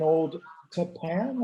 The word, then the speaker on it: Old Tappan: Brooke Zelser teaches English at Northern Valley Regional High School in Old Tappan, I think you told me is how you pronounce that.